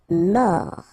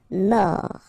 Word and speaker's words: mort: Mort. Final T not pronounced. O-R-or. Mort.